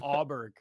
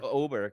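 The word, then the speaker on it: Åberg: Auberg. No, it's pronounced Oberg. Yeah. Swedish, I'm assuming.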